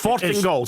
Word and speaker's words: Fortingall: So it's Fortingall, that's how you say it.